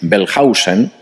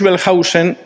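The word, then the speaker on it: Wellhausen: A finales del siglo XIX, un alemán que se llamaba Julius Belhausen, vamos a intentar escribir esto. Julius Pelhausen, la W en alemán se pronuncia como V fuerte, no como U. Julius Belhausen escribió un libro en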